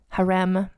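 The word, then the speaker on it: harem: nobody's business also note I'm choosing to pronounce this word as best I can as to how it's pronounced in Turkish Haram so not to be confused with the name of this week's featured person huram and I did do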